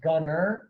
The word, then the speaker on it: Gunter: And then Gunner, once you type in, you do need to know that it's pronounced Gunner, but it's spelled Gunter.